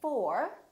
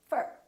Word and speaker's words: for: to talk to you we don't say for we say fur so don't say I'm